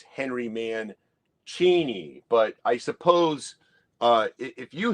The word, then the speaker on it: Mancini: Maybe a certain YouTuber in the vinyl community threw out, you're saying it wrong. It's Henry Mancini.